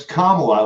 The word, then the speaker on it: Kamala: It's Kamala, like come along.